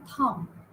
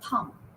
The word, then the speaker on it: thumb: BT okay so in thumb okay you say thumb you don't say Thum okay bomb you don't say bomb so B is silent at the end thumb bomb then uh